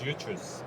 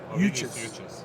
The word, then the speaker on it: Uchus: Ovidius, how do you say your last name? It's Uchus. Uchus. Yeah, that's right. Ovidius Uchus.